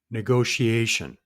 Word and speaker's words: negotiation: It's a fivecllable word and it's pronounced ngo she a shun. Negotiation.